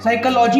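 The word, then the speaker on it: psychology: जैसे सुनामी में T silent है तो वो एक जापानीज वर्ड है, साइकोलॉजी में पी साइलेंट है तो वो एक ग्रीक वर्ड है।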